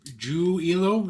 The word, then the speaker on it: Giulio: Giulio is how you wanted it pronounced? Yes.